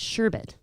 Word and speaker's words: sherbet: I think they say sherbet because I see the R in the first section of it. They see the sure, and then they just think Bert. But it's sherbet.